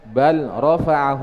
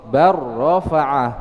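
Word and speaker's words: بل رفعه: Ya, dalam contoh beliau contohkan bal rafa'ahu Allah menjadi idgham bar rafa'ah atau qur rabbi. Ya, dibaca idgham.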